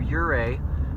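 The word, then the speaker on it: Ouray: have to go through your a i believe the o is silent on that o u r a y your a on the million dollar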